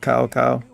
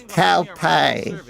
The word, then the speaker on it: Cow Pie: But then at the same time, they used to say it wrong, like Cow Cow. We don't talk about that. Hello, Cow Cow. They call him fucking Cow Pie. His name's Cow Pie.